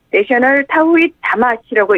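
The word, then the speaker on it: National Thowheeth Jama'ath: 푸지트 자야순나라 경찰청장이 지난 11일 간부들에게 NTJ, 내셔널 타우잇 다마시라고 읽는데요.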